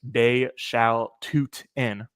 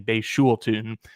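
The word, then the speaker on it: Bhayshul Tuten: According to the pronunciation guide in front of me, it is Bay Shao Tootin. Bay Shao Tootin. I've definitely been saying Bay Shul Tootin, but it's Bay Shao Tootin, the 4th round running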